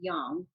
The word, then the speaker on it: yang: also what yin and how we pronounce it here in the western world is yang but in the proper way is actually young so yin and yang need to be in